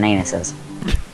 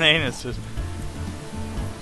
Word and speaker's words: Aenus: Oh, at least it's walking on anuses. It is. Well, in fact, walking on anuses. Alright, I'll grant you, pulling. It's actually pronounced anus.